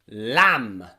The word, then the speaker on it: lamb: strong consonants and sometimes rarely b sounds before are silent silent okay practice with me bomb comb tomb lamb so let's depress them